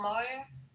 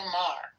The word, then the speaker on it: Maher: thing, I see Wayne Brady went after Bill Moyer. How do you say his name? Moyer. Moyer. Saying he's a racist. Bill Maher.